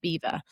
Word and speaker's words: Belvoir: decided to call it Beaver. So that's sort of where the name originates from. reason why, you know, it it definitely doesn't um it's not said how it's spelled, but Beaver's just got a long litany of fascinating history.